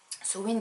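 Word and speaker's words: Samhain: pour les traditions celtiques sowind qui s'écrit sam lane mais saisissons win voilà un c'est le gaélique aucun rapport avec ce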